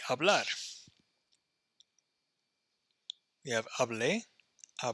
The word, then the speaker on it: hablar: AR verb is like hablar we have aa bleh a blast a hablo hablas habla Ron notice how I'm not pronouncing the H you don't pronounce HSN